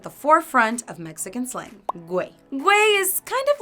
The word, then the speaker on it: Güey: just a quick tip: To remember the correct pronounciation of Güey, just remember that it sounds like the English word: "whey".